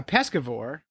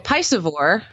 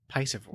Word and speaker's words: piscivore: didn't be know a pescivore, then that's all you eat, right? And, Well, a piscivore. yeah, piscivore. If you're piscivorous, Yeah. pescivore. I've been saying it wrong all these years.